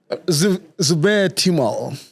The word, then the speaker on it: Zubair Timol: How do you pronounce the name? Timol? Yeah. Zubair Timol.